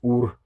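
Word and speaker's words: ūre: Um, hour, it would have been pronounced ur, spelled ure.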